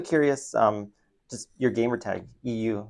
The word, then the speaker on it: eeiu: And then when I changed it to eeiu, I realized it also like the way that you pronounce it is EU, which is Europe, which is where my parents are from.